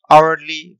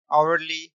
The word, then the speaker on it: hourly: example of vowel sound as here h is silent so here we need